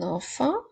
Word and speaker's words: enfant: et le mot enfant n'oublie pas la lettre Muette dans le mot enfant le prochain mot et